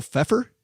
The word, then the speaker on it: Pfeiffer: Michelle Pfeiffer. Is that how you pronounce that? Pfeiffer?